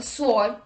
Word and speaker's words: sword: the rule number two w is not pronounced in the following words let's look at the examples who whose whom whole whoever answer sword to etc let's look